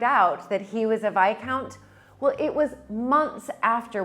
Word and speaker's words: Viscount: sort of disbelief saying why would it be vi count and not this count when it's spelled exactly like discount right so he then